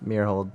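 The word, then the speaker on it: Myrholt: Meerhold. Meerhold.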